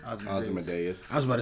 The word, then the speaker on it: Ozymandias: It wasn't a big giant squid that how you pronounce his name? Ozymandias.